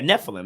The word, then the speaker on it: Nephilim: Like, I know it's a Nephilim, which is, well, yeah, Nephilim.